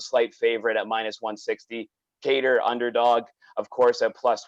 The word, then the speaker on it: Kattar: It's pronounced Kattar, but this guy says he's the New England cartel or something like that now. So we'll go with the American version here.